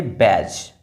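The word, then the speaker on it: badge: ये जो डी है वो साइलेंट है। जैसे कि इसको पढ़ेंगे बैज।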